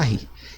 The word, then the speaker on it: Sarrus: Tá aqui Sarrus, mas a gente pronuncia Sarri.